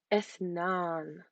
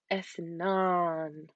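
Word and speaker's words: اثنان: and this is enough so it's important to elongate so if not and that is the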